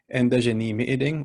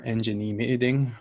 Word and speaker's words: ji-izhi-gikinoo'amaadidaa: So ji-izhi-gikinoo'amaadidaa or ji-izhi-gikinoo'amaadidaa, where it's spoken, where the dj is pronounced like enji.